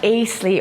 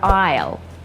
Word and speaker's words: aisle: And it's not acely or icy as you just said it. It's an aisle.